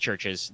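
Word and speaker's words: CHVRCHES: It's It's just pronounced churches. They're They're just using the funny Latin spelling.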